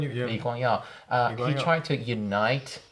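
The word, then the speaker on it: Lee Kuan Yew: How do you pronounce his name? Liua.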